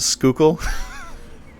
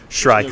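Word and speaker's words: Shrykull: It's pronounced Skookle. Like the river. Oh, yeah, okay. No, it's Shrykle. No C in there.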